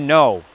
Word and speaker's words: know: Even though that K is silent, which is so weird